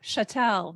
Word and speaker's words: chattel: before when women were chattel that's a fancy legal term it is I like that word I know I know chatel that's the French pronunciation um honestly when I